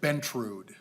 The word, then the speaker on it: Bentrud: Bentrud. Bentrud. Boy, I really heard that wrong. T-R-U-D. How do you spell that again?